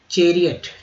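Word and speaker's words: chariot: चेरियट, ठीक है, चेरियट, ओ टी को अट पढ़ेंगे तो चेरियट।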